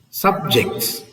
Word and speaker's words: subject: this is subject subject the S is on the second Sy see look at the word here subjects subject so when you